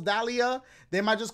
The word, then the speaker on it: Dahlia: It's got three syllables, Dahlia.